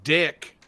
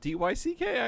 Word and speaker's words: Dyck: But, like, because there's no E at the end, D-Y-C-K, I can see how you can pronounce dick.